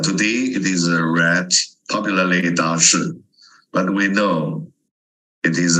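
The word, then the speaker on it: 大食: they use the term Da Shi. This is a pronunciation today. When we read the Chinese two characters, Da Shi. But according to the ancient pronunciation, it should be Dazi or Dazik.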